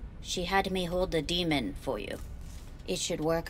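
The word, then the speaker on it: daemon: She had me hold the demon for you. It should work on any third-gen deck. Oh, it's pronounced demon? I thought it was Damon. Demon, okay.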